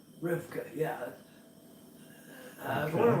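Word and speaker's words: רבקה: How do you pronounce Rebecca in Hebrew? Rivka. Rivka, yeah.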